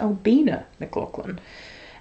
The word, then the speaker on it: Albina McLaughlin: So I'm really happy that I now know that it's pronounced Albina McLaughlin.